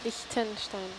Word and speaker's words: Liechtenstein: Liechtenstein. Great. Now I got it. Okay, thank you. You're really good at pronouncing that, Suna.